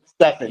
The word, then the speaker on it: Stefan: side of the ball Is it Stefan or Stephen? How do you pronounce Stefan? Yeah, Stefan.